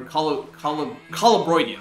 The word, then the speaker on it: Colubroidea: are rear fang snakes, like the Colubridae, or Colubroidea, that's how you pronounce it.